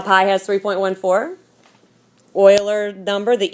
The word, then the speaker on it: Euler: see it okay this is called this is pronounced Euler that's how you pronounce this dude's last name Euler is what you would say okay this is the Euler number and it's named after a guy leonardo